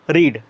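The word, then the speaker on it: read: दुसर रूप होतं तसं रीड च क्रियापदाचे दुसर रूप करत असताना स्पेलिंग तशीच राहते आर एडी मात्र उच्चार त्याचा कसा करावा लागतो रेड असा करावा लागतो मग इथं आर एडी लिहायचं उच्चार त्याचा रेड होणार आर डी रेड म्हणजे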